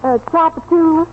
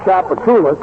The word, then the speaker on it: Tchoupitoulas: Tchoupitoulas Street. What street? Tchoupitoulas. Tchoupitoulas. Stop, Esther. Gracie, Tchoupitoulas is a very famous thoroughfare.